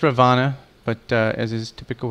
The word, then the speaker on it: Ravana: patch um it says ravana but uh as is typical with hindu culture you do not pronounce the last a on a name that ends with a uh it's just a